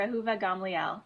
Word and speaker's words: Ahuva Gamliel: she's actually a doctor her name is Dr aova gamli am I pronouncing that correctly yes that's great yes that's CL close enough well you say it let's see how you would say it Dr aova Gamel Gamel not so bad I did good okay